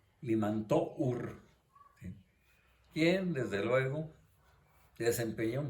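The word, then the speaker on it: Limantour: francesa José it limantur se escribe ahí es limantó quién desde luego desempeñó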